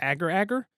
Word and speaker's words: agar agar: They also one of the drinks had, I pronounce it agar agar, but I've heard it pronounced agar agar.